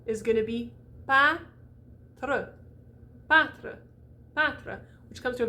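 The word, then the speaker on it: peintre: very important rule okay when it's nasalized that n is not pronounced don't do it don't do it or i will get you don't say don't do it ever go right to the t just do the nasal and then go right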